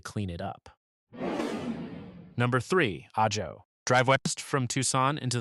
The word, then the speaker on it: Ajo: That's Ajo, pronounced Aho, Spanish for garlic, named for a wild plant the Tohono O'odham used.